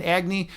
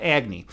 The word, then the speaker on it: Agni: And and and Agy or if you want to pronounce it like they do in the East, Agny, is is fire.